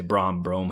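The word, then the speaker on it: Brohm: Offensive coordinator Brian Bohm is back under Jeff Brom. Brian Brom, I should say. Brom, however you want to pronounce it. I believe it's Brom, all right?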